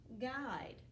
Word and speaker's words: guide: They both have this silent U right here. G-S. You don't even hear the U. G-ide. You don't even hear it.